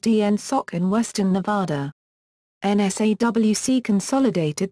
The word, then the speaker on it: NSAWC: NSAWC, pronounced ENSOC in Western Nevada.